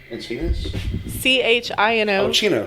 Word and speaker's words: Chino: and is it chino california in casino chino c-h-i-n-o chino is that how you say it yeah okay uh in chino california but he had later escaped on august 1st 1955.